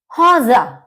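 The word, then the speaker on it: Hose: हौजा, हौजा pants. Last में जो ई होता है हमेशा उसको हम आ की तरह से प्रोनाउंस करते हैं, तो इसलिए ओ का अ हो गया, तो हौजा, हौजा पैंट्स।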